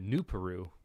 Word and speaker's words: Nuparu: and nuparu and he which he pronounces it new Peru which I thought was